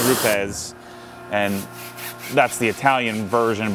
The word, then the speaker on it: Rupes: on YouTube saying, you're saying it wrong, it's Roops. I said, no, I think it's Rupes.